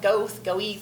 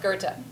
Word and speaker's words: Goethe: So it looks like it should be pronounced Goethe, Goethe, who knows? It's pronounced Goethe.